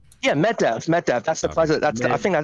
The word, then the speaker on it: Medvedev: Yeah, Medvedev.